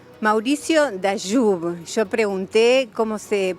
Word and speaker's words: Dayub: Mauricio Dayub. Yo pregunté cómo se pronunciaba y me dijeron es Dayub, no Dayub.